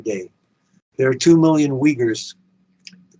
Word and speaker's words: Uyghurs: going on every day there are two million uyghurs the correct pronunciation is oyers I know because I heard an oinger say